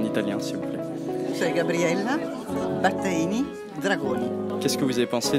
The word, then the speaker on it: Gabriella Battaini Dragoni: Comment est-ce que vous prononcez votre nom de famille en italien s'il vous plaît? C'est Gabriella Battaini Dragoni.